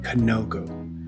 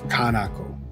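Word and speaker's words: kanoko: guys I I noticed I completely butchered the pronunciation of that should be kanoku not kanako Kano konoko okay back to the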